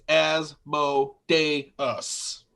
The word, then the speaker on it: Asmodeus: said his name wrong it's asmo day us yes you keep saying